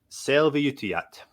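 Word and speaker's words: Selviytyjät: And it is pronounced Selviyutijat.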